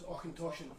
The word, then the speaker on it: Auchentoshan: That's Auchentoshan. Well, what's the crack with that one? So that's lovely. So this is a lowland whiskey. There's not many lowland distilleries. Right. The unique thing about Auchentoshan is they're one of the few distilleries in